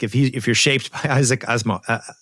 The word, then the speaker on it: Asimov: like Elon Musk, if you're shaped by Isaac Asimov, how you say it? Asimov.